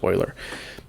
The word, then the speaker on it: Euler: euler because that's how it's pronounced okay it's pronounced euler greatest mathematician of all time hands down i